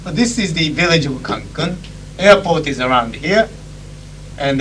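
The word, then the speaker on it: Cancún: By the way, the pronunciation for the word Cancun, which is the name of this village, is with accent here. There is an accent mark.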